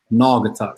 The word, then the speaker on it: Naugatuck: where Connecticut is that I'm in northern Connecticut Naugatuck see I never heard it yeah see you